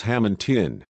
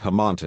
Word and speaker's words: Hammonton: to be rude but it's hammonton not Himanta n-- sorry about that my